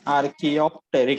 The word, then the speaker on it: Archaeopteryx: Pronounce it properly. Archaeopteryx.